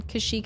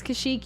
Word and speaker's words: Kashyyyk: This was before there was a pronunciation, Kashyyyk officially.